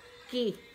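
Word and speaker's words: Cay: Ay ito pala pala by the way ito 'yung ano casa key c pero ang pronounce niya ke private island ng Disney yan guys.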